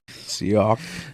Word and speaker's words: Seok: And we find out that the guy's name is Sock. What a weird name. Seok. Yeah, it's not spelled, but it sounds like they're saying sock, like an actual sock.